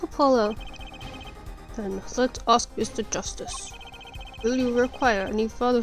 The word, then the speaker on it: Justice: Justice.